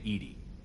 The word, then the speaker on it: EDI: have a specific inquiry why are you named Edie Ed is the phonetic pronunciation of e di that is an acronym